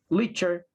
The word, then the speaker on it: literature: Literature. Literature. This E disappears, guys, and it sounds like literature.